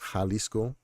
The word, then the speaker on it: Jalisco: the state of Jalisco the J in Spanish is pronounced like the H in English uh like house Jalisco uh so I'm from